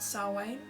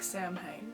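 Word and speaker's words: Samhain: So, um I'm going to start talking about saw Wayne. Um the one which is spelled like Sam Hayne but is said like sway.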